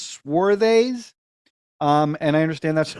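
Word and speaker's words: Swades: how you pronounce it I thought it was suedes but it's swes um and I understand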